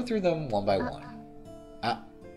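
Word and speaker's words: あ: Ah. It's the equivalent of the vowel a in English. It's pronounced ah. It's a short vowel.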